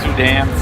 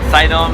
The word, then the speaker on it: Suydam: can pronounce my name Sudan's item how are you pronounce it how do you say it in New York they called sytem and here in the states they call it Sudan okay so but of